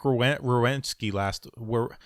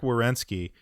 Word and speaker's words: Werenski: Well, I made fun of Zach Werenski I can't even pronounce his name. Werenski. Zach Werenski. Yeah. It's like rear wheel drive. I have to sound it out.